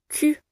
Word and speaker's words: Q: et un U, ce qui donne K. Q. Attention car le son U n'est pas présent dans toutes les langues, donc très difficile à prononcer pour certaines personnes. Et l'intonation ici est descendante.